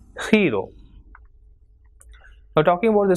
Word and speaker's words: giro: So word like GENIO will be pronounced as genio, and GIRO will be pronounced as hero.